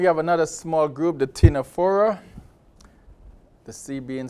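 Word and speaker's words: Ctenophora: naderians then we have another small group the tinaphora the sea being silent again this is pronounced sinephora the comb jellies similar look into the nadarians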